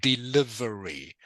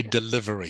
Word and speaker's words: delivery: library it okay so this word is pronounced everyone delivery okay delivery it's a very it's a short I sound delivery delivery okay um